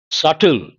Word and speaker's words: subtle: Subtle. I use this quite often. The letter B is silent.